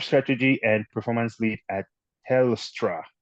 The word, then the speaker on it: Telstra: A non-executive director at Melbourne Support Services, group strategy and performance lead at Telstra. Did I pronounce that correctly? Telstra? Correct.